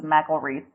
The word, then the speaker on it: McElreath: And that being said, I will bring in our guest for today, McElreath. Am I correct? You were really close. It's McElreath. Okay. Yeah, I got the pronunciation from your Facebook page, but it wasn't